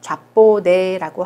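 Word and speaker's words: japonais: 자, S 발음하지 않아요. 좌뽀네라고 하고요.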